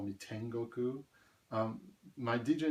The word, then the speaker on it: Tengoku: Japan people call me Tengoku. My DJ name is 1059. If you read that in Japanese, 10, just read it as 10. 5 is pronounced go, and 9 is ku, so Tengoku means heaven.